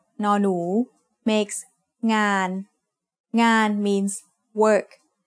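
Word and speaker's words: งาน: Ngo ngu, sara a, no nu makes ngan. Ngan means work. The ng sound of no nu makes it a live syllable, so it is mid-tone.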